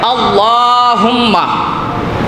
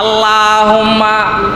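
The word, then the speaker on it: اللهم: আল্লাহ, এই আল্লাহ শব্দের আগে যদি জবর থাকে, বুঝে নিয়েন, আল্লাহ শব্দের আগে জবর যদি থাকে তাইলে মুখটারে পুর কইরা মোটা কইরা আল্লাহ শব্দটা উচ্চারণ করা লাগে। যদি কেউ বারেক কইরা পড়ে, মানে পাতলা কইরা পড়ে, তাইলে গুনাহ হবে।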